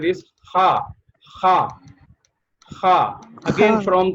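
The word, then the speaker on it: حاء: And the next letter is Ha. Ha. From the throat. Make the sound come out from your throat. Ha. Ha. Ha. Ha. Very good. Very good. And the next letter is Ha.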